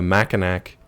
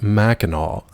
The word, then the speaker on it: Mackinac: But he was like, actually, it's pronounced Mackinac.